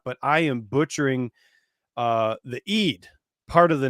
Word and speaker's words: Eid: It's runes of Eid.